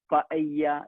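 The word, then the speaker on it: paella: For example ഞാൻ അവിടെ പയ്യ ദെ പൊയ്യോ, പല്ല എന്നാണ് നമ്മൾ ശരിക്കും ഇംഗ്ലീഷിൽ അത് വായിക്കുക, പൊല്ലോ എന്നാണ് ഇംഗ്ലീഷിൽ അത് വായിക്കുക. പക്ഷെ സ്പാനിഷിൽ വായിക്കേണ്ടത് പയ്യ ദെ പൊയ്യോ. അങ്ങനെ പറഞ്ഞാൽ ചിക്കൻ ബിരിയാണി എന്നാണ്.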